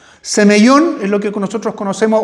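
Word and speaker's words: σημεῖον: Y en el caso del Nuevo Testamento es eh la palabra es más es más difícil pronunciarla incluso fonáticamente semellón. Semeellón es lo que nosotros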